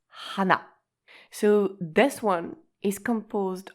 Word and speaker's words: 花: The Chinese pronunciation is ka, and the Japanese pronunciation is hana.